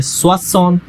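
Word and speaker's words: soixante: 60 को हम बोलते हैं स्वसौंत, स्वसौंत फ्रेंच में, ठीक है।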